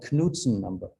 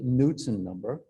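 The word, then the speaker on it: Knudsen number: transfer it's called the knutson number yeah americans say newton number now because kn is pronounced like n no you know yeah but it's knutson well i think it's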